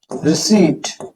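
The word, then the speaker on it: receipt: रिसीट, तो इसको रिसीट मत बोलिएगा, पी यहाँ पे साइलेंट हो जाता तो आएगा टेक रिसीट।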